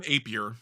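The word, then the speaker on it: Appier: The only pitcher other than Kevin I always say his last name wrong. Say it for me, Jeremy. Kevin Aier. Kevin Apier.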